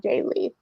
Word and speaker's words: Jaye: illustrator and Industry Legend Jaye is that is Jaye that's how you pronounce it right Jay yes okay one could argue